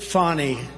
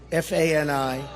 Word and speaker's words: Fani: It's all Look at Fani, F A N I. It should be pronounced Fanny.